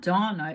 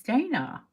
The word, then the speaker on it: Dana: It's not Donna, it's Dana. You just have the British pronunciation.